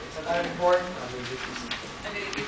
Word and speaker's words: Chicon: Chicacon. It's pronounced Chicon.